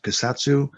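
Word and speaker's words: Kusatsu: The guy who played Wong, Clyde, and I believe it's pronounced Kasatsu.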